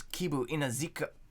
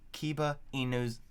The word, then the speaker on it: Kiba Inuzuka: I was Kibu Inazuka. Fuck, how do you say his name? Kiba Inuzuka.